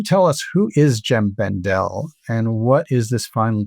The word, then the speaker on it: Bendell: Well, I pronounce it Bendel, but I guess we'll have to ask him what the proper pronunciation is.